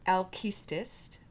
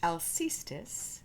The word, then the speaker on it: Aulis: Greek tragedy this week alst sometimes pronounced alus be on the lookout